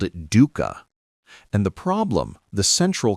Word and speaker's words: Dukkha: Dukkha. Suffering, stress, unsatisfactoriness.